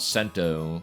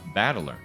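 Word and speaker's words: 戦人: The problem is my given name is made up of the characters for fight and person and it's pronounced battler.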